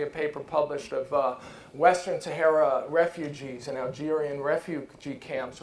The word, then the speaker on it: Sahara: Eles falam Sahara, Sahara, Sahara. Sahara. Porque essa Sahara, não é tão simples pra gente, né? Sahara. Sahara. Sahara. Mas eu vou procurar essa questão do H aí e ver se tem uma regra lógica, né?